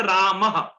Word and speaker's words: रामः: जैसे रामः, रामः, रामः में ह उच्चारण होता है ना, लेकिन होता क्या है, वो विसर्ग।